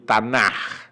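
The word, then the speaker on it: Tanakh: se conocen como el tanah t n al principio adapte a m acá lo que pasa es que en el hebreo la casi se se pronuncia como jota ok es lo mismo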